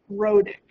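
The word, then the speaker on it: rhotic: word here is and how you say it, rodic, right? And wrote it is just sort of a term that means something that resembles that R sound.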